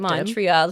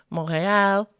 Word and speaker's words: Montreal: Montreal, said like an English speaker. Montreal, very English. My French accent is not the best, but it would sound more like Montreal.